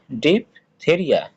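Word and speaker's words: diphtheria: তার মানে আমি হচ্ছে যে তাহলে এটা আমরা যখন একবারে উচ্চারণ করবো তখন কি হবে? ডিপ থেরিয়া, হ্যাঁ। কিন্তু যখন হচ্ছে যে তুমি এটা আলাদা করে নেবে তখন কি হয়ে যাবে? ডিপ দা রিয়া।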